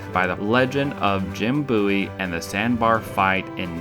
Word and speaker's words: Bowie: knives made popular by the legend of Jim Bowie and the sandbar fight in notches Louisiana and